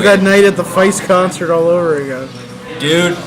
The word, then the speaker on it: Feist: And It'll be like that night at the Feist concert all over again. Dude, if you heard her sing 1, 2, 3, 4, you'd fucking cry too. And you'd know it's pronounced foist.